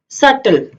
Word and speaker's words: subtle: T से पहले अगर B आ जाए किसी भी वर्ड में तो B बोलने में उपयोग नहीं किया जाता, B साइलेंट रहता है. For example doubt, date, debtor, doubtful, subtle.